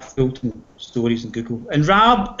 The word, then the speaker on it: Rab: And Rab, it's not Rob, it's Rab, R-A-B. It rhymes with Fab.